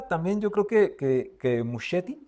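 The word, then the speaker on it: Muschietti: Y de alguna forma también yo creo que que Museti, sí se pronuncia Mucheti, eh, dentro de la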